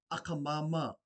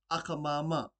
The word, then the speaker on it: akamama: Auntie in the Cook Islands Māori language is akamama. This is made up of two words. The first word being aka, this is spelled A-K-A. Repeat after me. Aka, aka. And the second word is mama, spelled M-A-M-A. Repeat after me. Mama, mama. Put these words together, you have akamama, akamama.